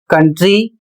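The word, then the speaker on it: country: अगला शब्द है सी ओ यू एन टी आर वाई जिसे पढ़ा जाता है कंट्री और इसकी हिंदी होती है देश।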